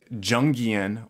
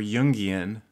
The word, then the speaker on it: Jungian: thing as the Myers-Briggs Jungian or Jungian, if you want to pronounce it correctly, version of introvert versus extrovert.